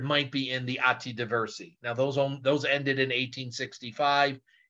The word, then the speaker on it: Diversi: One record type I did not mention, you might want to scribble this down somewhere, is called Atti Diversi. Not spelled like the street in Chicago, D-I-V-E-R-S-I.